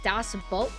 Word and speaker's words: Das Boot: It's pronounced like boat. Das boat.